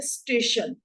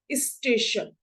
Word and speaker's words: स्टेशन: हमें जरूर नहीं जैसे शुद्ध शब्द है स्टेशन लेकिन हम उच्चारण की गलती कैसे करते हैं इस स्टेशन इसी तरीके से शुद्ध